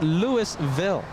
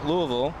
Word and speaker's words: Louisville: That's Louisville.